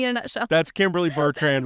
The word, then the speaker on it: Bertrand: I say Bertrand.